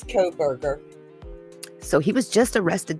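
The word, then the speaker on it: Kohberger: to pronounce that name it looks like co-burger okay yeah it's co-berger so he was just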